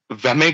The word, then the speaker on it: WME: So these are the international organisations, कोप, वेमे करके इसको pronounce करते हैं, WME, वेमे, ICMJE, CSE, EASE.